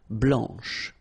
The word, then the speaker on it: blanche: Okay, remember when you combine this CH, you get the sound sh, blanche.